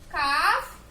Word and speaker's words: calf: The letter L is silent, right?